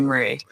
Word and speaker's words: Marie: say like is it Marie or like Marie yeah so my parents would say Mari but everybody else called me Marie that's beauti well so